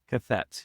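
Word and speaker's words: qathet: Make sure I pronounce pronounce the school district. I love it. Represent. Is it Cath? Cath.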